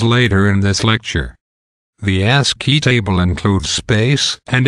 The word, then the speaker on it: ASCII: called the ASCII code AS CII means the American Standard Code for information interchange the pronunciation of a s CI is ASCII asked he is a table that